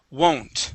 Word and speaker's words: won't: right there I woe won't so we're going to pronounce an o sound there won't w w okay good